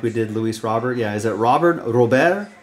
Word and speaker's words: Luis Robert: conference at the time where he said it's Luis Robert Luis Robert so that's what it is that's how he want wants it pronounce we'll go by from the uh from